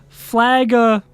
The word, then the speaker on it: flagellation: It's flagellation. I always thought there was an R in there.